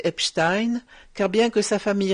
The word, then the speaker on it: Epstein: Alors il y a deux camps, ceux qui prononcent Epstein et ceux qui prononcent Epstein.